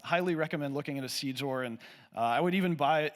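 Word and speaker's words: SeedXOR: would buy a cold card solely to do SeedZor of seed phrases. Can you spell that?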